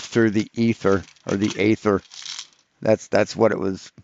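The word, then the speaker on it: aether: ether because it's pronounced because it's pronounced ather not ether ather a e t h e r and AE is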